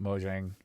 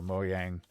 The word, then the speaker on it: Mojang: noticed uh recently but mojang or moyang i don't know how to pronounce it properly i think it's moyang because it is swedish but uh they they